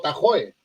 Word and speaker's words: Tahoe: Tú has oído hablar del famoso lago Tahoe. Ajá. Tahoe. Así es, California. Exacto, pero realmente, bien pronunciado en lengua gringo hablada, se dice el Tajo Lake.